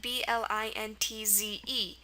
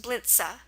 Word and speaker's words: Blintze: Like BLINTZE. So it's not pronounced blintz, it's pronounced Blinze. So here, the schwa at the end of German words are always spelled with an E.